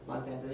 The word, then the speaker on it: Monsanto: so that that's one of many things yeah monsanto is another is that how you pronounce it monsanto yeah that's the big uh they pissed me